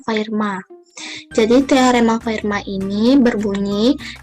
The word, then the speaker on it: Fermat: yaitu teorema fermat jadi fermat disini itu dibacanya Firma jadi teorema fermat ini